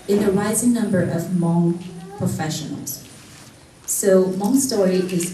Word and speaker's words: Hmong: And because he doesn't understand it, and he pronounce this word, say Hmong. And actually this is not Hmong, this is just Hmong. The H is a silence, so it's just Hmong to us.